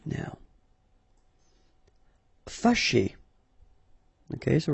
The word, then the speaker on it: fâché: Fâché. Okay, so remember that here, even if you've got this accent circonflexe on the top of A, well, technically it doesn't really change the pronunciation.